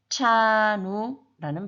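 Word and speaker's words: trano: 그것의 차이는 TR 이 발음은 우리 윗니 뒤쪽에 보면 오돌도돌한 치경이라는 부분이 있는데 거기에 혀를 댔다 떼면 차누가 됩니다. 그래서 트라누도 아니고 차누도 아니고 차누라는 발음이 나게 됩니다.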